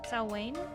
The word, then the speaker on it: Samhain: Pronounced Salwain phonetically?